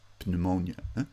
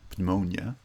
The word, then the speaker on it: pneumonia: segments pronounced together and likewise the p of pneumonia we don't pronounce pneumonia pneumonia although the the french